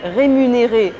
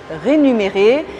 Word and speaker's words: rémunérer: votre prononciation en français on dit rémunérer et pas rénumérer et de bien faire